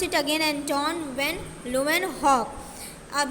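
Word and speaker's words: Antonie van Leeuwenhoek: अब जैसे आपके एक यहाँ पे माइक्रोबायोलॉजिस्ट थे, एंटोन वैन ल्यूवेनहॉक. क्या नाम है इनका, listen the pronunciation very carefully, एंटोन वैन ल्यूवेनहॉक. I will pronounce it again, एंटोन वैन ल्यूवेनहॉक.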